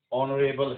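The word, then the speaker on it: honourable: जैसे कि आवर है, ऑनेस्ट है, ठीक है, या फिर ऑनरेबल है, ऑनरेबल। तो यहाँ पे तीनों जगह पे जो एच है वो साइलेंट है और साउंड जो है ओ की है सभी जगह पे।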